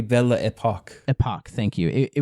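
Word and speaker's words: Belle Époque: period in France called Bell Epicue. I I'm probably saying it wrong. Probably Bella Epoch.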